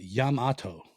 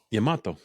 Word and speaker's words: Yamato: Oh, that's how you pronounce it. Yamato. Yamato.